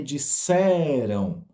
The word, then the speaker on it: disseram: merecem nosso cuidado quando ouvir não tem acento mas a gente fala da tônica na última sílaba né que é o imperativo ouvir que me disseram é uma palavra no passado então a gente dá tônica dela na metade da palavra não no finalzinho né disseram depois vamos à